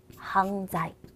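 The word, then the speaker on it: 犯罪: 音读的犯罪就是念成犯罪，犯罪，犯罪。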